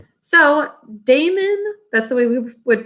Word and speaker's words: Damon: about but here is damon impetius right so damon that's the way we would pronounce it in pythius and we're also going